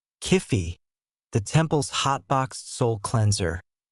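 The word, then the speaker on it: Kyphi: Kifi, pronounced K-O-O-Fi, unless you want your soul rejected by Osiris, was a complex, sacred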